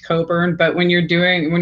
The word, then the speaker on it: Cockburn: whose last name is spelled cockburn but i think it's actually pronounced coburn but when you're doing